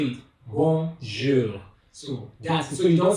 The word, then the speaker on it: bonjour: When you start a language, for example, if you're studying French, you start a language and you want to pronounce this word, bonjour.